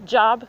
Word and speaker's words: Job: 7 meaning J O Job. I'm I'm pronouncing it like scripture.